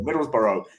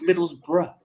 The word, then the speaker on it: Middlesbrough: they pronounce certain towns Durham. like Edinburgh or Middlesbrough. They always put the borough. Edinburgh or Middlesbrougugh. No, it's Middlesbrough.